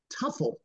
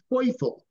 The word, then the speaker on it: Teufel: had a second baseman named Tim Tuffle. But in German, that's pronounced Tim Teufel. So that Teufel in German means the devil.